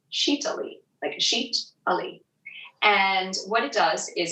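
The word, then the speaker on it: Sitali: called sheeta libra and it's spelled s-i-t-a-l-i and it's pronounced chita-li and what it does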